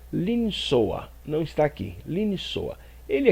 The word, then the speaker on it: לנסוע: O verbo viajar se pronuncia linsoa.